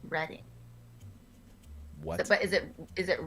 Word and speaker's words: Reading: friend from reading pennsylvania and it is to pronounce reading but is it is it reading pennsylvania then